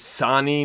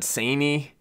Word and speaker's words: Sani: Someone else was saying it's Sani, not Saini.